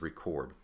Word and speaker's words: record: So we have re, and then we have cord, if we were to break this up into two syllables. So we put the accent here for record, and that is a noun.